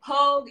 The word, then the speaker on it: Pogue: And Pogue is like Vogue, the magazine, drop the V at the P. That's how you say it.